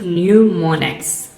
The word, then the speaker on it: mnemonics: is in a sequence mnemonics mnemonics pronounced new monacs are methods devices or